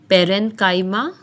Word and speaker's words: parenchyma: tissues or simple permanent tissues, and they are pronounced as parenchyma, collenchyma, and sclerenchyma. Each differs in structure and performs supporting functions. So the first one is parenchyma.